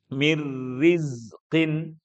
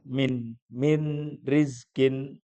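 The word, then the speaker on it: مِن رِزْقٍ: Misalnya kalau sudah kayak gini bacanya enggak usah min rizkin. Nah, itu berarti masih ada nunnya. Nah, padahal ini harus dibaca idgham.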